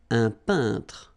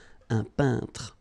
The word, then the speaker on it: peintre: So remember when you get this E-I-N together here, then you pronounce this un sound. So nasal in your nose, un peintre. All right? And remember, final here is not pronounced. It only gives you the possibility to pronounce these two letters. So tr, tr, okay? Un peintre.